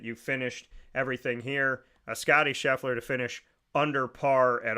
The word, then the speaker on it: Scheffler: Xander, you know, to the work that he put forward, and Scheffler is how, that's how it's said you're supposed to pronounce it here. But looking at, you know, we're looking at this, and I'm not.